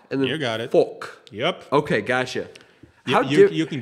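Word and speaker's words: fok: I guess folk.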